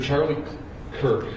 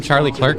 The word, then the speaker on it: Charlie Kirk: At around 12:20 p.m., political influencer Charlie Kirk was at Utah Valley University. Were you about to mispronounce his name and call him Charlie Clerk?